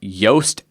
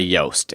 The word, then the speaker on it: Yoast: now is my SEO plugin and that's the Yoast SEO for wordpress plugin I'm not going to